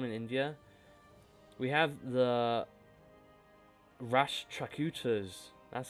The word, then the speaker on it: Rashtrakutas: We have the Rashtrakutas, that's how you say it, there we go, occupying the Sankhayavats.